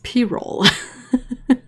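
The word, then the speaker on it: pyrrole: it's p-roll it's not pyrol it's p-roll but yeah they write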